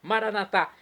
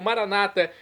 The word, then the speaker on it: Maranatá: E agora eu clamo do aramaico, dialeto de Jesus, Maranatá, como dizemos nós católicos, ou maranata, como dizem nossos irmãos separados, os evangélicos ou protestantes. Não importa, pronúncia, o significado é o mesmo.